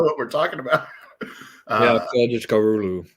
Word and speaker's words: Kılıçdaroğlu: Yeah, Kılıçdaroğlu. I think it's just you don't even pronounce the G on the second part of his name or whatever.